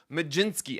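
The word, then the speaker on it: Mlodzinski: That's Carmen Majinski. I got it right, guys. I got the pronunciation pronunciation guy.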